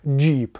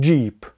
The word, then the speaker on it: Jeep: Произносится как «Джип». Просто сделайте так, чтобы звук "j" был более понятным. Джип.